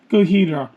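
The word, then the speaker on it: ゴジラ: Here I have a haul of 6 VHS Toho Studio movies, mostly featuring Godzilla, or in Japanese, Godzilla or Gojira, depending upon the pronunciation and translator you use.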